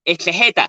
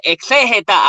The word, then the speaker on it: exégeta: Ahora no se dice exegeta, se dice exégeta. Aprende, el Señor, aprende. Repite conmigo. Exégeta, no, exegeta.